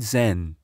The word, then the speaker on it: Zen: of Taoism the word Zen reflects this it is the Japanese Way of pronouncing the Chinese character Chan which itself derives from